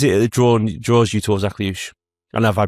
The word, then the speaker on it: Akliouche: So what is it that draws you towards Akliouche? And have I pronounced that right? Yes, Akliouche, you got that right.